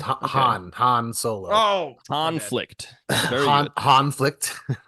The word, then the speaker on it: Han: Smuggler he's a he's a convict it's it's pronounced Han Han Solo oh conflict conlict yes very good